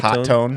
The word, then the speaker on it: Hotone: Hotone, which is Hotone, hot tone. hot tone. I've actually confirmed it's hot tone.